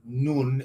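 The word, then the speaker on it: نان: the thing, but it's mispronounced nun in Farsi. Nun is the word for bread or some kind of pastry, anything that's basically made from a dough.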